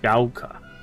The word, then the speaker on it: Ebisugaoka: Ebisugaoka. And it is Gaoka. all ours. Gaoka.